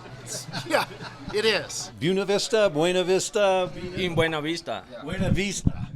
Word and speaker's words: Buena Vista: along with the feeling that it was officially pronounced buav Vista but that hasn't stopped Innovation people lived here a long time call it buy uh and a lot of people just call it BB okay you're an AP Spanish student how do